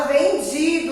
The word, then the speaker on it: vendido: Então, a sílaba tônica é o vi e automaticamente o O vai ter som de U, porque a sílaba tônica não foi a última sílaba.